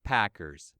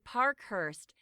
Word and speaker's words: Parkhurst: here it is Chase Packers baseball player that's him but actually the reporter got his surname wrong it should be Parkhurst that's p-a-r-k-h-u-r-s-t okay I'll